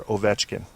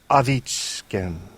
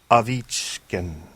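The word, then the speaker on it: Ovechkin: your other teams tend to be for example pronouncing Alexander oetkin okay sounds right right that's what everybody says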